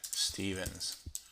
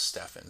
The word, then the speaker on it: Stevens: call it uh Stevens a lot of people pronounce my name that way even though it's Stefan so we'll call it